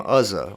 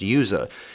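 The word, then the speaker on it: Uzzah: off so this guy named azza or sometimes it's pronounced yuza he reaches out his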